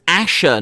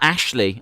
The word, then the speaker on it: Asher: You're saying it wrong. It was Asher, not Ashley. Oh, I thought it was Ashley.